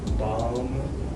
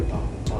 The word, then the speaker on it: Balma: Ladies and gentlemen, Brittney, look, I don't want to mispronounce the last part. So, look, Balma. Brittney Balma, yes. Balma.